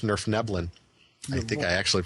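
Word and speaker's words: Svirfneblin: and I believe that their actual name is pronounced Nerf nebin I think I actually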